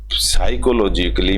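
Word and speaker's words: psychologically: फिजिकली एंड साइकोलॉजिकली य साइकोलॉजिकली में पी हमेशा साइलेंट रहता है इसको बोला नहीं जाता है स्पेलिंग इसकी यही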